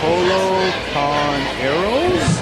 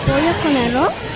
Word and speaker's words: Pollo con arroz: Polo con arroz? Pollo con arroz?